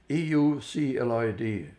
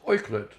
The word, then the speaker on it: Euclid: The word was Euclid, Euclid, but in German it's pronounced Euclid. And when I said Euclid, the whole class started laughing, and it didn't make me feel very comfortable.